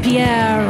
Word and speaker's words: Pierre: At least Pierre rhymes with underwear.